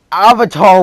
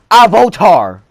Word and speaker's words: Avatar: Heck, they even pronounce Avatar wrong in this movie. They pronounce it Avotar.